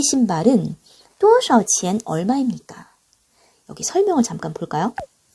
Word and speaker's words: 多少: 많고 적다란 뜻으로 쓰일 때는 이 샤오를 삼성으로 발음을 해줘요. 그런데 얼마나 라는 의문사로 쓰일 때는 성조가 사라집니다. 경성으로 발음을 해요.